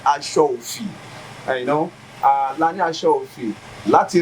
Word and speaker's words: aṣọ òfì: òkè or aṣọ òfì the correct pronunciation is aṣọ òfì la ní aṣọ òfì